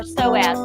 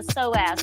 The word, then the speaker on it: psoas: to focus on the psoas now the psoas is spelled p s o a s so s so the p is silent don't be acting